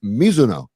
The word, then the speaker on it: Mizuno: Or like Mizuno is Mizuno. if you want to pronounce it correctly.